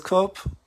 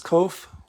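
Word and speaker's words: Qof: not pronounce it as cope they pronounce it as kof with an F they do not pronounce the letter P asp um so I've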